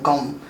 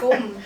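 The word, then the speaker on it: Gqom: Gom. I don't know how to say it. Okay, it's gum.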